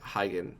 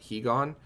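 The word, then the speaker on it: higan: So I think I just spelled out BYUU because that's made sense to me, and I'd always pronounced it Heigen, not Hegon.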